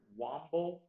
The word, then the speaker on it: womble: The word is womble. Womble can also be pronounced wamble. Womble or wamble.